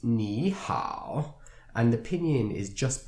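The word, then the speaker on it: 你好: These characters are pronounced ni hao, and the pinyin is just below the two characters.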